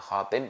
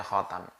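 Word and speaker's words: خاتم: Khatam, al-khatamu bi fathit ta, taknya bacanya ta, khatam, kan ada khatim ada khatam ya. Ini bacanya khatam. Khatam bi fathit ta wa kasriha, dan juga boleh dikasrah.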